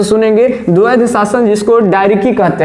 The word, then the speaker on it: diarchy: ध्यान से सुनेंगे, द्वैध शासन जिसको डायरिकी कहते हैं, ध्यान सुनेंगे, अंग्रेजी में क्या कहते हैं, डायरिकी कहते हैं। ये ध्यान से समझिए, CH जो है ये साइलेंट रहता है, इसको डायरिकी बोलते हैं, डायरकी, ठीक है, ये ध्यान में रखिएगा।